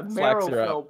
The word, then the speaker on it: Marrowfell: That's a Marrowfell Brawler. Marrowfell. Yeah, that would make sense. Like bow and marrow, yeah.